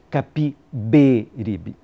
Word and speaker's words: Capiberibe: Capibaribe, com A, como sempre tinha ouvido dizer no Recife. Fiquei perplexo quando Veríssimo comentou, para grande divertimento da turma: bem se vê que o senhor é um pernambucano. Pronunciou pernambucano, abrindo bem o E. E corrigiu: Capiberibe.